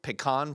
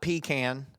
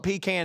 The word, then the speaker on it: pecan: had lots of pumpkin pie and my favorite pecan pie which is the correct way to pronounce it it is not pecan but if you want to call it pecan and serve it to me i'll still have